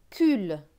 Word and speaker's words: cultivateur: C avec UL. UL se prononce UL. Donc C va se prononcer que parce qu'il y a le U juste après. Donc que et UL, cul. T et I, ti. V et A, va. T avec EU et R. EUR se prononce heure. Donc T et R, teur. Donc ce mot va se lire cultivateur.